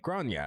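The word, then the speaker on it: Gráinne: And I said, well, in Ireland, they typically pronounce it like Grania.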